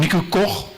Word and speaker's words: Nico Koch: Yeah, as you could hear there, I'm Nico Koch. That's the pronunciation.